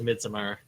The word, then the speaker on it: Midsommar: or mid so more dependent apparently it is midsummer so yeah doesn't say to the Aria aster